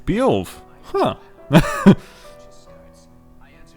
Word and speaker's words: Beowulf: You've come to I was even pronouncing it correct. Beowulf.